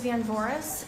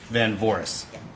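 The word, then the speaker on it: Van Voorhis: first my first my last name is Van Boris spelled BS and Victor a n v as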